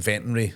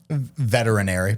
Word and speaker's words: veterinary: It's like I bought uh some veterary surgeries last couple of years. Uh, veterary. Veterinarian. What do you call them? Veterinary.